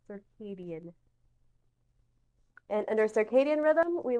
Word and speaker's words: circadian: rhythm is circadian rhythm it's a funny word to look at it's pronounced circadian and under circadian rhythm